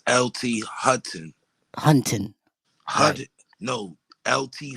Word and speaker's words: Hutton: No, it's LT Hutton. Hutton. Hut? No. LT Hutton.